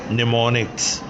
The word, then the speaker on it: mnemonics: M is silent, निमोनिक्स code लिखेंगे MNEMONICS, निमोनिक्स।